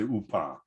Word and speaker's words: UPA: ukrainian insurgent army uh has its ukrainian initials as upa i say upah i hope from the